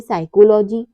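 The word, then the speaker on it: psychology: व साइलेंट रहता है लेटर पी कब साइलेंट रहता है यदि किसी वर्ड में पी के बाद एस आता है तो पी हमेशा साइलेंट रहता है जैसे साइकोलॉजी साइकेट्रिस्ट साइकोथेरेपी इन सब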